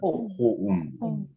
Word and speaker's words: home: 혹시 home 발음 한번 해보시겠어요? HOME. 자, 여기서 한글로 히읗, 오, 미음으로 발음하신 분들은 다 틀리신 겁니다, 지금. 다 틀리신 거예요. 호음입니다. 정확한 표현은. 호음. 호음.